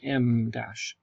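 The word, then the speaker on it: em dash: Dash or M Dash M that's e m we say it like the letter M Dash Okay um are we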